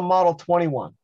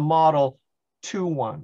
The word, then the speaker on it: Model 21: take a guess well you notice i don't call it a model 21. it's it's really properly turned a model two one okay the two is